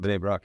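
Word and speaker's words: Bnei Brak: Bini Brak, yeah.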